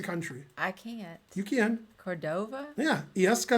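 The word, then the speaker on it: Córdoba: because against the country i can't you can cordova yeah yes cordoba how do you spell it i-l-l-e-s-c-a-s is yes and cordoba is like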